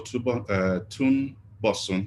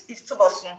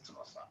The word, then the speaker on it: Tubosun: It's Tubosun. It's very easy to pronounce. It's Tubosun.